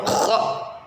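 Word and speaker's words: خ: Nah, kha cara pengucapannya yang pertama rongga tenggorokan bagian atas sedikit menyempit.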